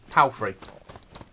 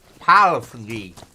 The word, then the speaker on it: Palfrey: bit done but then my surname is palfrey um but people will pronounce it as py or paly and all manner of weird things means um the P